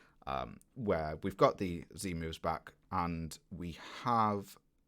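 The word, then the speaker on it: Z-Move: having an argument about whether it's called the zed move i'm sorry english our english powers are no stronger here than anywhere else but uh there's there's no z moves it's only z moves and they're not in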